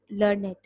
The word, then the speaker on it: learned: When learned is an adjective, it's pronounced as learned.